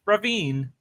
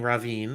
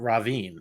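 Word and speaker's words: Rhavin: And so I love what they're doing with Ravine, but I'm disappointed with Gays. And I appreciate you saying Ravine, which is how we know the name should be.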